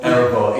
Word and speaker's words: Erebor: So, how do you pronounce the band name? That's the song. That's the outtake now. Erebor, E-R-E-B-O-R.